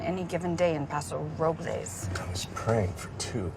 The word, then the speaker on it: Robles: They call it Paso Robles, Well, the correct pronunciation is Robles. but they call it Robles.